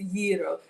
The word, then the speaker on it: gyro: It's gyro. The G is a soft G. It's almost silent.